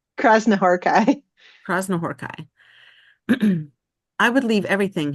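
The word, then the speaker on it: Krasznahorkai: And the name is pronounced Krasnahorkai.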